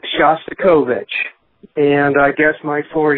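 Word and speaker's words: Shostakovich: And I believe the way you pronounce the name of the composer that you mentioned is Shastikovich.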